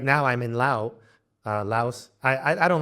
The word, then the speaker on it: Laos: Like right now I'm in Laos. I don't like this. Laos is the correct English pronunciation, but it's in Thai and Lao. In the language itself, it's Lao. So let me call it Lao.